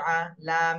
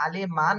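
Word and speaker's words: عليمًا: ফারিহা ফারিহা ফারিহা জি এরপরেরটা দেখেন আইন জবর আ লাম ইয়া জের লি আলি মিম আলিফ দুই জবর মান আলিমান আলিমান তাহলে এখানে যদি আমি উচ্চারণ করতে যাই বা রিডিং পড়তে যাই রিডিং এর সময় আলিমান আর পড়া যাবে না আলিমা এক আলিফ টান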